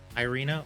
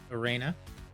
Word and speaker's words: Irena: so hey this is the uh irena or arena as you can pronounce it kickstarter demo if you're